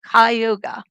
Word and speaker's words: Cayuga: Cayuga.